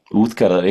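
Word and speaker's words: Útgarða: It says Utgard Loki, but I decided to be cool and say it like an Icelander because I am one. Yeah, Uthkara, yeah, parallels between Loki though, because Loki's more like a trickster god.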